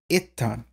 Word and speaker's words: itan: has changed there but what we see in Gothic is itan itan so we see that this short e shifts to an eye in Gothic so but is this